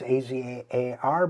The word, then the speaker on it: Azar: This week, the Senate took another step toward the confirmation of pharmaceutical industry executive Alex Azar. It's A-Z-A-R, but pronounced Azar, I'm told, toward Azar's confirmation as